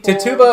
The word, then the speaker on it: Tituba: now okay so keep Tituba or tits huh but I don't know are you sure it's how it's pronounced I don't want to butcher people's names it's ti tu ba to the kuba hepatech